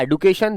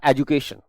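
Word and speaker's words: education: नित्या मेरे बच्चे, एडुकेशन की 2 प्रोनाउंसिएशन होती हैं, पहला एडुकेशन, दूसरा एजुकेशन। ठीक है, तो ये गलत नहीं है, प्रोनाउंसिएशन बिल्कुल सही है, आप जो चाहे मान लीजिए, लेकिन एडुकेशन भी is right and एजुकेशन is also right.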